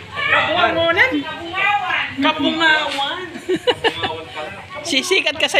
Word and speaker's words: Cabongaoan: Paano po ito pronounce? Kabungawan.